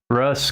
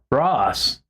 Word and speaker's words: Ross: Russ Catcher. Thank you. We have similar sounding names. Sometimes people mispronounce my name as Russ. Russ. I'm like, it's an O. Ross.